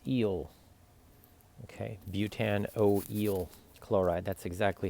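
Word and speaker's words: butanoyl chloride: Butte an you know oh it's eel okay Butte an O L chloride that's exactly how it's pronounced okay now another thing that you can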